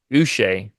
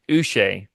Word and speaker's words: Uche: oh here it goes his pronunciation is us so Josh us okay glad we got